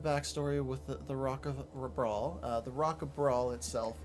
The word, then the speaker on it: Bral: Welcome to the Rock of Brawl. I believe that is how it's pronounced, and that is how I'm going to pronounce it.